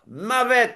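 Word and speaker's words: מוות: Et ce mot en hébreu moderne est prononcé comment? En Mavet. Avec. hébreu moderne, la mort c'est Mavet.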